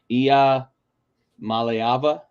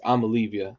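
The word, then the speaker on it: Iamaleava: It's Ia Maleava, I believe is like the think so, proper yeah. pronunciation, but it's Amalivia on this show.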